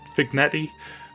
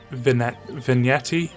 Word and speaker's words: vignette: this i butchered it i said fig vic fignetti that's completely wrong i think it's a vignette i think it's vignetti or vignette vignette let's go for vignette if i'm wrong tell